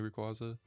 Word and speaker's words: Rayquaza: figurine of Black Shiny Rayquaza and Mega Shiny Rayquaza. I was like, man, I gotta get those statues. They look so good. And speaking of Rayquaza, or Rayquaza, if you prefer that pronunciation, um, Lego just came